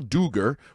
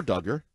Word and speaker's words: Dugger: of the line Kyle duger or Dugger either pronunciation fine we want to be